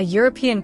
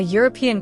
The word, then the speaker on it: European: Another example, a European country. Y a instead of an because European begins with a U sound. A European country.